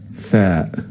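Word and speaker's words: ث: The fourth letter is tha, tha, and it's pronounced like th. It resembles the combination of th in English in the word thin, thin.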